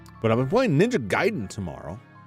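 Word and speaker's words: Gaiden: I've been playing ninja Guiden tomorrow ninja giden which if you watch the movie The Wizard you'll understand is the correct pronunciation um I don't think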